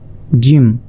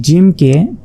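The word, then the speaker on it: ج: এক নুক্তা এটা হচ্ছে জিম এই জিমকে চার আলিফ পরিমাণ টেনে পড়তে হবে অর্থাৎ চার সেকেন্ড আপনাকে টেনে পড়তে হবে জিম জিম জিমটি উচ্চারণ হবে জিহবার মধ্যভাগ তার বরাবর ঠিক উপরে তালুর সঙ্গে লাগিয়ে জিম জিম এরপর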